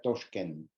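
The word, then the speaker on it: Toshkent: país que es toschken como les decía se escribe contá pero se en uveco se pronuncia touchen esta ruta de la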